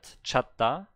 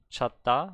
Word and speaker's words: 찾다: Ah, see, this is the correct pronunciation of the word, chatta, chatta, but it's the different ending consonant.